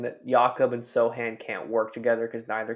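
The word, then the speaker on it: Sochan: so that's my opinion Sohan right yeah see I I came out and said that that was the pronunciation and still can't get it right um but what I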